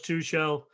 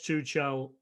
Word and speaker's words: Tuchel: So listen, Thomas, I think coming in, Thomas Tuchel, I think he's a good manager.